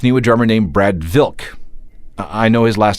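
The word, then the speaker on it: Wilk: something together Zach knew a drummer named Brad Vil I know his last name searched with a W but the proper pronunciation is Vil he had taken lessons from some serious jazz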